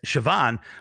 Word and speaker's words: Siobhan: right it's weird because siobhan to me is like c-h-e-v-o-n or something you know yes all right